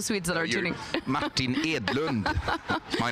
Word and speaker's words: Edlund: we don't have time Dr Martin Edlund and pronounce it correctly for all the sweds that are tuning Martin edland my name sorry thank you very much thank